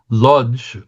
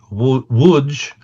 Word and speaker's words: Łódź: Andrew, we're going to go to what Jews pronounce as Lodge, Wudge. Wudge? Oh, sorry. Wudge is the pronunciation in Polish, I believe.